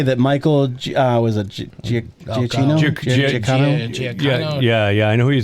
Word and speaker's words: Giacchino: I think it's the one that Giacchino, I think is how you pronounce it. That's right.